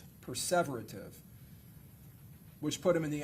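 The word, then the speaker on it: perseverative: And then he committed six preserverative errors. Did I pronounce that right? Perverative. Perverative which put him in the average range of functioning.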